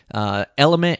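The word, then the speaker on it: LMNT: Element is spelled L-M-N-T.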